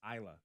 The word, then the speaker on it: Isla: Oh, they say it's Isla. Not the S is silent.